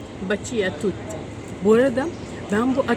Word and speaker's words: Baci a tutti: Adı böyle okunuyormuş. Baci a tutti.